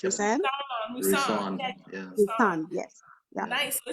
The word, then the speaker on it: Roussanne: Roussanne, yes.